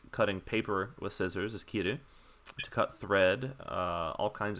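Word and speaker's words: 木: But the word tree is ki. You also sometimes see it pronounced moku. It's the same kanji that's in mokuyobi.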